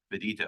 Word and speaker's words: Bedito: Today, I am pleased to welcome the new president and CEO of the MPSC, Ms. Stephanie Bedito. Am I pronouncing that correctly? Yes, thank you.